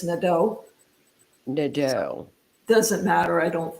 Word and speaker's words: Nadeau: So it's French, correct? Yes. It's Nadeau. Nadeau. Oh, in Kentucky, we'd say Nadeau. Yeah, I usually say Nadeau. It's easier to spell than when you tell somebody it's Nadeau.